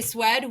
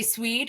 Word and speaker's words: Swede: So retail, we actually have I heard you actually say Swed. We like to say Swede because it rhymes with weed.